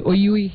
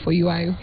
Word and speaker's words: Oyuayo: He said Oyui instead of Oyuayo.